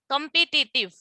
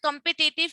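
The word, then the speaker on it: competitive: कंपिटिटिव, अक्सर ये word आपने सुना होगा, कंपिटिटिव सुना हुआ है। जी मैम। कंपिटिटिव, आपको पता है कंपिटिटिव की जो सही प्रोनाउंसिएशन है ना, वो कंपेटिटिव है।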